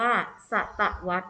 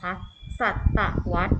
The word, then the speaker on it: ศตวรรษ: เป็น ศตวรรษ นะ คะ คำ นี้ อ่าน ว่า ศตวรรษ นะ คะ อีก ครั้ง นะ คะ ศตวรรษ หมาย ถึง ช่วง เวลา ใน รอบ 100 ปี